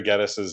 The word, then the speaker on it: Geddes: 31 years ago, I began a noble tradition of mispronouncing Gary Geddes's name.